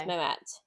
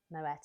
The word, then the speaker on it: Moët: Yeah, apparently the French way is Moët. Moët. But lots of people, say Moët, because I think it's French, you shouldn't pronounce the T.